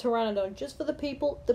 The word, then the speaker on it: Pteranodon: gets tamed let me just say it's not pronounced per Pteranodon it's pronounced Pteranodon just for the people the P sound okay